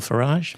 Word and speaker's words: Farage: Nigel Farage. Yeah. To rhyme with garage or far to rhyme with garage. Well, yes, that's the way he likes to pronounce it because he thinks it